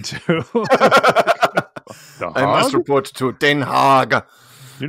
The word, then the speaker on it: Den Haag: That's how you say it in Dutch. You're picturing this giant pig that he's reporting to. I must report to Den Haag.